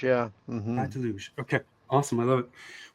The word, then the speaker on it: Praia da Luz: It's Pride Deluge? Is that how I pronounce it? Praia de Luz, yeah. Pride Deluge.